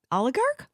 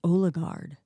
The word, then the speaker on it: oligarch: yeah I know uh I always thought it was olard but it's gar oh gar o l i g a r c h